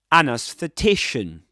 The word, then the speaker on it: anesthetician: Double stressed word. Main stress on t secondary stress on a anesthetician.